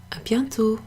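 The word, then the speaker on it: à bientôt: gentle up yeah - a bientot so that it's just pronounced like ah young to be on to it don't pronounce the T at the end of that often happens in French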